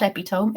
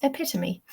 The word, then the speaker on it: epitome: It is not epitome, it's epitome.